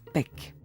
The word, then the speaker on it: pek: Mais chien, en maya, se prononce pek.